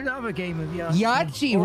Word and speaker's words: Yahtzee: Yahtzee rhymes with yippee.